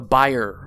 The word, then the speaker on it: Bayer: introducing the buyer filter. And yes, it's the buyer filter, not the Bayer filter. His last name was German. And that's how you pronounce it in German.